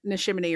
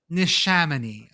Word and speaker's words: Neshaminy: A is really our most cursed vowel because anything can happen with that one. There are some rules for the other ones. A's, there are no rules. There's only pain. Nishaminy.